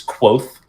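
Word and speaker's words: Kvothe: around the legendary exploits of his name is quoth is the pronunciation there's a random V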